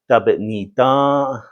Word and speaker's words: dabi'niidá: verb and say zhii dabi'niidá, zhii dabi'niidá. Now, you got to make sure all the syllables are in this word. If you leave out a few syllables like say da'i'dá, that means we already ate.